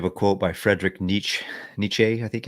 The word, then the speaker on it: Nietzsche: Nietzsche, I think it's pronounced.